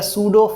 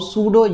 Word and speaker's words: सूडो: order reaction जिसको हम सूडो uni molecular reaction भी कहते हैं सूडो वर्ड का ही मतलब क्या होता है सूडो वर्ड का ही मतलब हमारे पास क्या होता है फाल्स सूडो पी साइलेंट होता है इसमें सूडो वर्ड